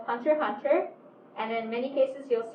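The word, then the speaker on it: Hunter × Hunter: it's i pronounce it hunter hunter i think it was revealed um the series creator anyway is yoshihiro kobashi and he had pronounced it in an interview as hunter hunter so yeah go with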